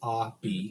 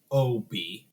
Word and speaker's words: Obi: His name is spelled Obi. Xavier says, "What the fuck's an Obi?" And he goes, "Abi." 2 syllables, Abi. Mm-hmm. It's my name. And then on the tape, Jon calls him Obi. Same inflection, but O, not A, so they all get it different.